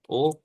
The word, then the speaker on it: aux: Okay, and second the o we use if the country is masculine.